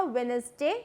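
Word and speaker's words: Wednesday: उसमें भी बोला था, वेडनेसडे, जिसमें डी साइलेंट होता है।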